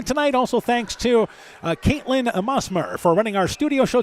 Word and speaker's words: Musmer: Also thanks to Caitlin Musmer for running our studio show tonight. Musmer, by the way, is how that's pronounced.